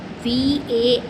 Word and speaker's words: vampire: VAMPIRE, vampire. R is silent here.